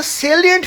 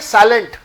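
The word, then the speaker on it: salient: 44 which of the following are द सेलिएंट features of जीएसटी? बहुत सारे लोग इसे पढ़ते हैं साइलेंट, साइलेंट नहीं होता, इसे बोलते हैं सेलिएंट, SA, सेलिएंट।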